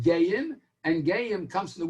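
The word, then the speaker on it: גיים: And it's written Gimel Aleph Yud Mem, according to Rashi's Gersa, and it means, it's really written Gimel Yud Yud Mem, but it's pronounced Gayim, and Gayim comes from the word Ga'ah, and Ga'ah means exalted, and it's Shnei Gayim Bevitnech.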